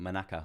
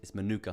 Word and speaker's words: manuka: that um manuka honey i got the name wrong yesterday so i was calling it manaka or something like that but it's manuka honey it's um very expensive